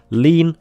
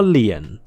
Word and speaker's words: lien: lien is pronounced and the two ways apparently to pronounce it correctly are lean or lien anyway if there is